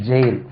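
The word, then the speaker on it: gaol: எல்லாருக்கும் தெரியும் கோல் இது ஜி ஏ ஓ எல் ன்னு ஒரு வேர்ட் இருக்கு அது என்ன சார் புதுசா இருக்கு இதுதான் ஈக்குவல் ஜே ஏல் ஜெயில் இதுக்கு உச்சரிப்பே ஜெயில்தான் ஜெயிலர் ஜெயில் வார்டன் சொல்றீங்க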